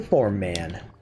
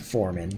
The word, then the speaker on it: Foreman: That's why they call me the Form Man. It's actually pronounced Foreman, but my way is funnier.